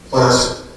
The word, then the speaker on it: placer: So next question, what's a placer? And how do you pronounce it? The answer, as I also discovered through Google, in the context of mining, is like gasser, placer.